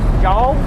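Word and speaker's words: Jal: Do we know the is what the what the right how to pronounce that? It's Jaw. Jaw. Yep. like y'all.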